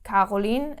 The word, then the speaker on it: Caroline: pronunciation in a word in a name like koline is like C like the k okay um then we